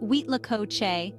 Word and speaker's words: Huitlacoche: let's unravel this mystery together h l Co pronounced wheat Lao is a culinary curiosity that has captivated the